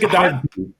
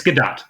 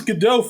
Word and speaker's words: Gadot: Gal Galadat or Galado, however you pronounce it. Is it Gdat? It's Gdat. Yes. I thought it was GDAU for like the longest.